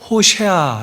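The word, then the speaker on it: הוֹשֵׁעַ: 잘 알고있는 이름이에요 호세아 원래 발음 그대로 얘기하면 호샤 라고 한다 호샤 아 근데 이게 여호수아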